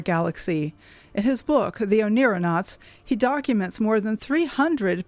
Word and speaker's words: Oneironauts: So astronauts, but Oneironauts. So we're astronauts in our dreams.